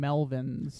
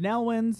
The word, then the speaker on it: Nelwyns: Yeah, it sounded like the first time it was mentioned, it sounded like Melvins, which is a very strange name for a race. Yeah. But Nelwyns is virtually Melvins pronounced differently, so we'll stick with Nelwyns.